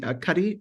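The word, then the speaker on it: Cuddy: that I have to um check out Amy Cy is how you say her name yes yeah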